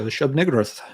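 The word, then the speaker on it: Shub-Niggurath: And Wednesday night we covered the Shub Nigroth.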